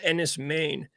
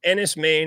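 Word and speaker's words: Enys Men: makes me think of there's this movie called Enis main um that I really love it's NIS main it's spelled e n Ys space and then Meen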